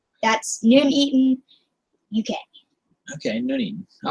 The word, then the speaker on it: Nuneaton: Box says his place is pronounced Nuneaton. That's Nuneaton, UK.